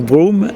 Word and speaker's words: Brougham: oui s'appelle lord boum ça se prononce broom et ça s'écrit brougham et c'est un personnage